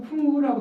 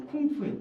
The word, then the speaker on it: 쿵푸: 그러니까 우리가 여러분 소림사에서 쿵우라고 들어보셨어요? 쿵우? 네. 이 쿵우가 원래 쿵우가 아니에요. 쿵푸예요.